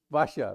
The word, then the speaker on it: Vaishya: The Shastras, the Brahmins, I can pronounce, but how do you say it, Sajid? Vaishya, right?